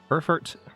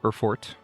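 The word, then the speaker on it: Erfurt: series Empire of Espionage so erfert or erfort depending on how exact you want to be with your pronunciation is right here and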